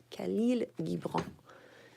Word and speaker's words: Khalil Gibran: Khalil Gibran.